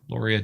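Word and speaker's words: Lauria: Loria Danner. Loria Danner. Okay. Like Gloria, but without the G, and not spelled that way.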